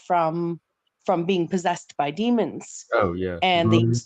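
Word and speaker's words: daemon: into computer language uh demon or Damon because it's spelled with the AE uh it's it's a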